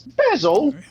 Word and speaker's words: Basil: baker street live here do they pronounce it basil or is it basil pretty sure it's i think basil yeah yeah fun to believe faulty towers it's bezel well because it's i